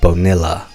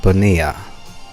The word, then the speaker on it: Bonilla: or so Marc Bonilla that's Bo and i double-l a looks like banila but apparently is pronounced Bonilla yeah Yuji Krishnamurthy well